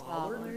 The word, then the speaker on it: bollard: It's bollards or ballards? Bollard? A bollard.